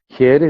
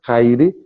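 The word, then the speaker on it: Χαῖρε: Here, repito, é a pronúncia do grego katarevousa, que é um grego antigo modernizado e que é utilizado normalmente nas igrejas, que se escreve Kaire, e alguns linguistas do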